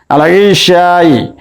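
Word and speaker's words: العشاء: আল ইশাই এর আলিফ লামের লাম উচ্চারণ হচ্ছে, তাই আমরা এটিকে বলতে পারি আল হুরুফুল কামারিয়া।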